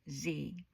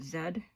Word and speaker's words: Z: In the US, it is pronounced as Z. Is it in the UK where they pronounce it Zed?